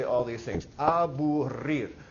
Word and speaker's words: aburrir: Aburrir. Say it for me. Aburrir. Roll your R's. Come on, you can do it.